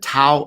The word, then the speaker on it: Tao: Well, my very first book was called the Tao of Twitter, or the Chinese pronunciation is actually Tao of Twitter.